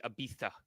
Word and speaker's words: Ibiza: No, he wants you to say it like the people say it overseas, Ibiza, like, which is I refuse. I refuse. This is America where we say Ibiza right here.